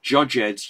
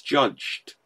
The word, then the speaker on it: judged: And it's like, no, that's one syllable. This isn't Shakespeare. I didn't judge-ed you. I didn't say, I will judge-ed you, and then you will be put to prison. No, it's judged. Judged. And that's one syllable again.